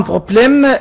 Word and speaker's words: problème: En Égypte, il y a un problème euh dans ce lettres dans ce lettre B